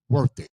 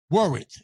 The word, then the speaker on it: Worath: I'm gonna see if we can pronounce this last name right. Worth it. Worath.